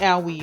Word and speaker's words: Aoi: Because he said in chat like O-W-I-E, like Aoi, I hurt myself. And I'm like, bro, that's literally how you pronounce it. Shelby told me, because it's like Yowie. Yowie, Aoi.